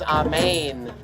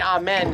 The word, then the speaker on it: amen: in in aramaic and the sound is amane we say amen here in the west which is actually a mispronunciation it's ah what